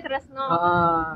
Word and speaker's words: Tresna: Tresna dibacanya Nah, kalau di Jawa kan di Jawa juga Tresna dibaca Tresno.